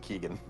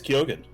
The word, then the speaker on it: Kogan: because thanks to him I think you just pronounced it Keegan no it is kogan really okay yeah I've